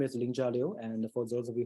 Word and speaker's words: Lingjia Liu: again my name is Ling jalio and for those of you who can pronounce you can see and for those people who cannot pronounce it very well we can sing about ninja with l so I'm currently serving